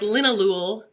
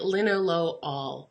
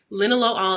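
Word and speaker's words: linalool: naming chemical compounds okay Linna low all is a alcohol and every alcohol sounds like all at the end okay so that's why it's not lin Ahlul it is linen low all okay so so just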